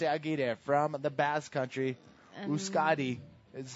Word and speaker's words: Euskadi: Euskadi is how you pronounce that in yes, in the Basque language.